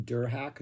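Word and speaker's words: Derhak: right that is how you say his name der hack direct d-e-r-h-a-k he is the only member that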